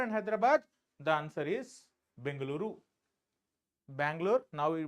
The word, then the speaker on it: Bengaluru: this then Bangalore and Hyderabad the answer is bangaluru Bangalore now we pronounce it as bangaluru it is bangaluru right so you can see